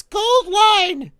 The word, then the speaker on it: AU-Line: It's Gold Line.